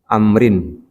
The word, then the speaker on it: Amr: Kalau Amru ain mim ro ada wau di belakangnya maka dibacanya amrin bukan umaro.